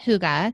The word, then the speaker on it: Hygge: It's spelled Hygge. So, for those of you who don't know, it's pronounced Huga, and the Danish concept